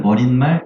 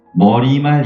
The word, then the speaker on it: 머리말: 훈잣말 시체말은 니은 발음이 나는데 머리말 인사말은 니은 발음을 내지 말라. 근데 99%의 사람들은 머릿말 인산말이라고 표현하고 있지.